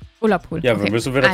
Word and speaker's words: Ullapool: Spricht man das richtig aus? Ullapool? Allapool? Wie heißt das? Ne, da steht Ulla. Ullapool.